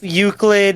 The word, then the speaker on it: Euclid: It's pronounced Euclid? Yeah, it's Euclid.